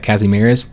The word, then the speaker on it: Kazimierz: polish cassie casimires and i guess we'd pronounce that kazimierz those polish people in the comments uh can correct me uh but yeah he's